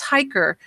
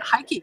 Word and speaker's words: Heike: There's an R sound at the end, and I never knew. We've been talking for 10 years. And you've been saying something quite different, right? Oh, yeah, Heike.